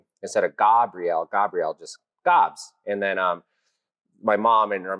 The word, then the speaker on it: Gabs: So yeah, Gobs, not Gabs, not Gobbs, even though that's how it's pronounced, just Gobs.